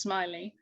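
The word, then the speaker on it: Smellie: scottish artist called john smiley now it's spelt smelly but pronounced smiley and his dates were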